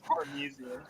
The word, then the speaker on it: Parmesan: I'm pretty sure it is Parmesan. I'm just saying it's pronounced Parmesan.